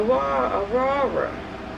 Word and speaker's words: Aurora: get this with or you do want to stress on the middle syllable or so make sure